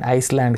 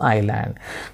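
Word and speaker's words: island: Next చూడండి ఐస్లాండ్ కాదు, ఐలాండ్. సో ఐలాండ్.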